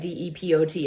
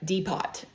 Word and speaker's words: depot: That's an important word to look at, D-E-P-O-T. It's not pronounced depot. It's depot.